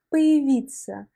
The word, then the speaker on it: появиться: Et j'aimerais attirer ton attention sur la prononciation du mot появиться. Появиться. En fait, la voyelle ya se prononce ici comme i parce que la voyelle ya n'est pas accentuée dans ce mot. Et ça nous donne появиться.